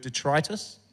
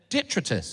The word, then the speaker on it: detritus: this is my dream I also learned how to say the word detritus okay good yeah that's good to know I don't even seen it written down so I was calling it detrus detrus and uh you